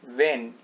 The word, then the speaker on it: when: अब देखिए यहाँ पर लिखा है WHEN, इसका उच्चारण होता है वेन।